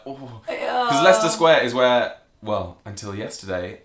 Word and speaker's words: Leicester Square: The next one is Leicester Square, which some people pronounce Leicester Square.